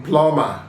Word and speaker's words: plumber: is silent in climb, silent in plumber.